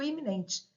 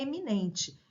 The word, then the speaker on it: eminente: tenho eminente e iminente normalmente você fala assim ah é um político iminente eminente correta por um está correta é eminente ele é um político